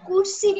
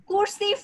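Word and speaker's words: cursive: Teacher কুরসিভ মানে কি? কুরসিভ না, এটার ইয়া হবে প্রোনাউন্সিয়েশন হবে কার্সিভ।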